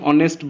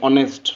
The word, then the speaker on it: honest: रहला Kitties is a honest boy कोन हबो an honest boy exactly सेटा एन हबो जेहेतु प्रोनाउंसिएशन एन हुए ऑनेस्ट नेक्स्ट है क्वेश्चन नंबर